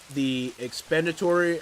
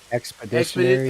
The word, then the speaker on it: expeditionary: The expenditory, or how do you say that? Expeditionary. Expeditionary. Thank you.